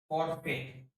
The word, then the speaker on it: forfeit: कुछ अन्य वर्ड जिनमें एआई का उच्चारण ई या बड़ी ई एन होता है। जैसे फॉरफिट, फॉरफिट हो गया ना FORFEIT यानी अर्थदेव, SURFAIT सरफेट यानी अतिरेक, WEIR यानी होगा दोस्तों बांध।